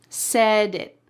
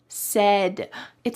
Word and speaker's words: set it: Said said, it sounds like a d. And in fact, that's how we pronounce it. When there is a t surrounded by vowels in American English, that t becomes a d.